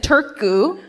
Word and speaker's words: Turku: damage and damage he's released from prison in Turku Turku you're like five four